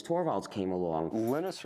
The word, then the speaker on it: Linus: Linus or Linus? What's your preferred pronunciation? When I speak Swedish, it's Linus. When I speak Finnish, it's Linus. When I speak English, it's Linus. And I really don't care how people pronounce my name.